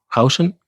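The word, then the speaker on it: Huijsen: En Madrid, ¿cómo se pronunciaba? ¿Heisen? ¿O Hausen? Hausen.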